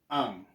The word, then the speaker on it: ang: Now, the second word is ang. To some people, that NG sound is a challenge. But just imagine putting a consonant in front, maybe S. So it'll be, well, in English you would say this sang, but use the, is this, what do you call this? Past participle, sung, okay? Use sung instead. So if you remove the S, you will be left with ang, okay?